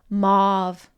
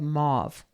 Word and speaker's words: mauve: a little bit, but the pronunciation of mauve or mauve. How many of you out there say mauve? You can just say number one for mauve. And if you say mauve, just put a little number 2 in your comments. I'm definitely a 2. She's a 2. I'm a 1. So maybe, it was art school. I don't know. But which is the correct pronunciation? It's mauve.